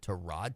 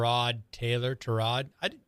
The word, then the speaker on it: Tyrod: Is it Tyrod Taylor? Tyrod.